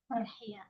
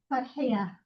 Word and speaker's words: Farhiya: How do you pronounce your name? Farhiya.